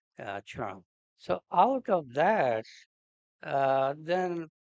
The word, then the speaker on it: Ksana: is called chara, and often in English books they will write it as Ksana, where K is silent in pronouncing. So it is closest in English will be shana, or correct will be chara.